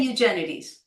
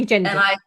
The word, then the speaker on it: Eugenides: So wonderful So that I say Eugenides, and Eugenides. I say Aurelius and Teleus, and the queen is Irene, and I pronounce it Edis, and the country is Sunis.